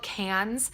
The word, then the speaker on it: Cairns: Something else I've done is we booked our trip to, it's called Cairns. It's how you pronounce it. It's not how it's spelled at all, but it's where the Great Barrier Reef is.